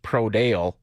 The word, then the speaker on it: Prodal: I know my best friend's last name is Prodal, but it's actually pronounced Prodale all over Saskatchewan.